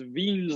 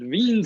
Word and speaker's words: Wien: the law is is veen's law veen was a german scientist so we uh don't pronounce it wien's law we pronounce it veen's law because that's how he pronounced his name but this is a